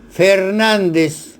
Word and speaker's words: Fernández: Me refiero a estos apellidos: Fernández, correctamente escrito, con tilde en A de nan, y Fernández sin tilde.